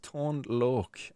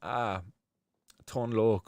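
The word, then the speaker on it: Tone Lōc: Chilbert UK says pronounced Tone Loc. Tone Loc. So IOC is Tone Loc.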